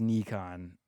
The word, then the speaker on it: Nikon: Japanese pronunciation is Nikon. Nikon is not, but Nikon themselves have said they don't care how you pronounce it. Any way you pronounce it is correct.